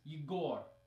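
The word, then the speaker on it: Егор: the second one is you gore okay the stress is in different places in the first one it's on the first syllable eager and in the second word it's on the second syllable you go and neither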